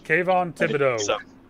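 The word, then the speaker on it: Thibodeaux: Is that how you pronounce it? Yeah. Kayvon Thibodeau.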